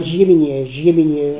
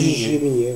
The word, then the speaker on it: Giai-Miniet: Alors toi tu prononces comment, tu dis Giai? Giéminier, on dit Giéminier, ouais.